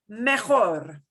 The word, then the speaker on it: mejor: Mejor.